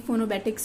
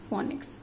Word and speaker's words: phonics: फोनोबेटिक्स somewhere you find फोनोबेटिक्स and somewhere you find it फोनिक्स, बट the correct pronunciation is फोनिक्स.